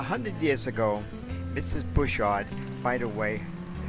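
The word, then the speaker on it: Butchart: awed by the way Bouchard is incorrect because the name that bushra would be corrected to his French but they were English so you put the accent on the first syllable instead of the second so it which caught with John's that's the way it's supposed to say it well anyway this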